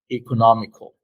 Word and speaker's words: economical: And again, the stress in both is in the part nomic, economic. That's why you say it this way: economic, economical.